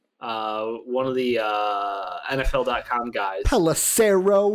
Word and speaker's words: Pelissero: Pelissero rhymes with arrow, Dave?